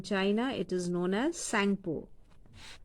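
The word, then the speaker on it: Tsangpo: And in China, it is known as Sangpo. T is silent here. Sangpo.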